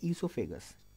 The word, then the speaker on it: oesophagus: यहाँ पर आ जाता है आपका ईसोफेगस। इसमें ओ साइलेंट होता है, पहली चीज़।